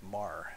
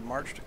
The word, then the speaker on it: Meagher: Okay, so the army is not in bad shape losses-wise, but we do have especially Meagher, I believe that's pronounced Mar, if I recall correctly.